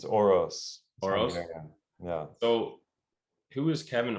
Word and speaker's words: Orosz: think beyond um dude how do you say your last name by the way it's oros yeah so who is